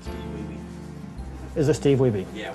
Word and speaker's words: Wiebe: It's Wiebe, because he...